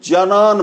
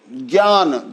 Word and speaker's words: ज्ञान: और ज्ञ को लोग जनान बोल जाते हैं, जान, ज्ञान जैसे है तो उसके लिए जनान।